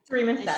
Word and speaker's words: Caryma Sa: Caryma Sa, she that's right.